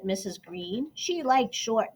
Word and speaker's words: Greene: named Mr and Mrs Green that's green with a silent e at the end discovered that they were